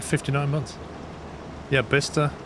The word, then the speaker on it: Bicester: like 59 months yeah besta is written as Bicester to be fair there's